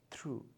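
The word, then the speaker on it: through: ऐसे हमारे ये सारे वर्ड्स हैं जिनमें कि हमारा GH साइलेंट है, जैसे कि राइट, फाइट, साइट।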